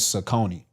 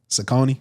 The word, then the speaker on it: Saucony: My brand is Saucony.